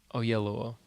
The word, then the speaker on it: Oyelowo: He was announcing the nominees or something, and he had everybody in the room say, "Oh yeah, Oyelowo." He sang it. Oyelowo. That's how you say it?